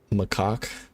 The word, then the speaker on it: macaque: By the way, I'm Macaque. By the way, I'm pretty sure it's pronounced macaque.